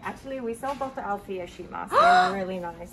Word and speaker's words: Althea: Althea. Yeah. Althea.